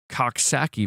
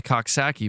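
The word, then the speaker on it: Coxsackie: It is typically caused by the Coxaki virus, bro.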